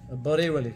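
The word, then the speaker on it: Barelvi: See, it's the V there. It's the V. Yeah, yeah. It's the V. So the V is pronounced as a W, right? It's the, between a V and a W.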